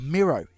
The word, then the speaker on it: Miro: name is pronounced as the i in win thanks though Miro ah Miro there we go slap